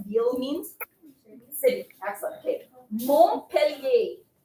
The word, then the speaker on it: Montpellier: Montpellier. M-O-N-T. P-E-L-L-I-E-R.